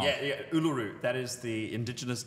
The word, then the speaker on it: Uluru: Yeah, yeah, Uluru.